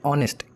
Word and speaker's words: honest: इसको प्रोनाउंसिएट कैसे करते हैं, ऑनेस्ट. कैसे करते हैं, ऑनेस्ट.